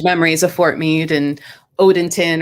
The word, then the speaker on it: Odenton: of fort meade and odenton or odington is it pronounced even though there's no ing in it right no date on